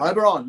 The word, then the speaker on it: Oberon: Oberon.